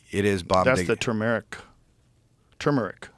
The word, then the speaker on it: turmeric: How do you say it? Turmeric. I say turmeric. Turmeric. You say turmeric? Yeah, I've heard people say it that way. I think they're wrong though. I think it's turmeric.